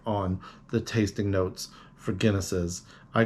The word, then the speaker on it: Guinnesses: But don't just take my word for it on the tasting notes for Guinnesses.